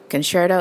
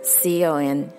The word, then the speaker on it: concerto: Concerto is C-O-N-C-E-R-T-O. You can say concerto or concerto.